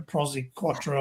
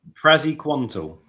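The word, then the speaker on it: Praziquantel: Prozy quattro or whatever it's called. What the Prozy? What? Prozy quant. How's it pronounced? What is it called? Prozy quantal.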